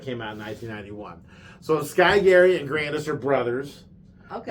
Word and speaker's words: Sky Garry: name is, in Japanese, Sky Garry. And that's with a G. Sky Garry. But it's spelled Garry. 2 R's. Yeah. So almost like Carry, Carry, right?